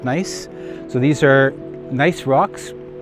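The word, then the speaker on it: gneiss: like ganese g-n-e-i-s-s but it's pronounced nice so these are nice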